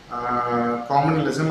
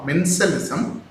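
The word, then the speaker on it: commensalism: இந்த காமனலிசம் அமினலிசம் அப்படின்னு சொன்னீங்க பார்த்தீங்களா, அது இந்த காமனலிசம் அமினலிசம் சொல்லக்கூடாது. மென்சலிசம் மென்சலிசம்.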